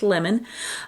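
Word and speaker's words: LMN: and Nicholas BL uh L L MN pronounced lemon um they will be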